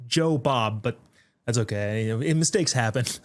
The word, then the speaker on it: Jobob: I think they pronounced my name wrong. It said and more. It It's Joe Bob.